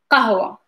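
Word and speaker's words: قهوة: the qh sound is same as like Q, but like it's very further in the back. It's like a true sound, is qh sound.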